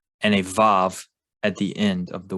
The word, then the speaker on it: Vav: There's also poems that have rhyming schemes and rhyming words using Vav as Vav sound and not a Wa sound.